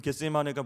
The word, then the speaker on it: 겟세마네: 여러분, 겟세마네가 무슨 뜻이죠? 네, 발음을 잘 하셔야 됩니다. 네, 겟세마네입니다.